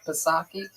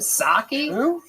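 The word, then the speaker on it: Psaki: Jen Pasaki. What's that chick's name? Saki. What's that? The Jen Saki. Is that how you say it? You don't say the P at all.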